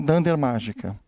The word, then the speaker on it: __magica__: Python que na verdade o jeito certo de pronunciar o nome dessa palestra é sem dander mágica perto uma primeira coisa